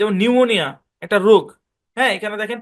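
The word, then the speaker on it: pneumonia: শুরুতে আছে পিটা সাইলেন্ট নিউমোনিয়া একটা রোগ এখানে দেখেন পিএন শব্দের শুরুতে আছে পিটা সাইলেন্ট চলেন তার আরো কিছু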